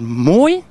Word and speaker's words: Moye: Moye? Moye, that's Moye.